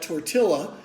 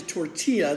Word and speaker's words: tortilla: y ll a and some people might call that torte illa but in Spanish it's actually tortilla those two L's are are with spoken as a why so today I'm going